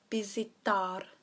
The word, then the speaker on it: visitar: Now the V is pronounced with a B, so it's visitar.